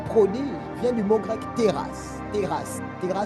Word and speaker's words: teras: Un prodige vient du mot grec teras. Teras. Teras s'écrit T-E-R-A-S.